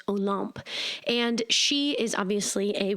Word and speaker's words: Olympe: Olympe is spelled Olympe, but in French, it's pronounced Olympe.